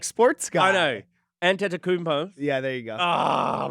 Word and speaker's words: Antetokounmpo: And Giannis, and how do you pronounce that last name? Antetokounmpo. Oh, bro! I'm the like sports guy. I know. Antetokounmpo.